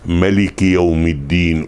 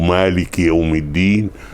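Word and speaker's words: مالك: Maliki, c'est un mot qui se prononce de plusieurs façons. Ils sont tous valables. Si vous récitez dans la prière Maliki Yawmiddin ou Maliki Yawmiddin, elle est valable votre prière parce que les deux versions sont acceptables.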